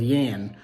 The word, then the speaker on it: Jan: of a server named Yan it's Jan spelled j-a-n but he pronounced it as Yen and uh he gave